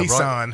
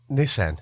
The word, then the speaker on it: Nissan: How do you say either, Nissan? Right? Nissan.